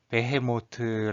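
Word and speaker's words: בהמות: 배모 어디 라는 말은 이스라엘 사람들이 승은 히브리 말로 배 해 모트 라고 읽어요 그리고 이 말의 뜻은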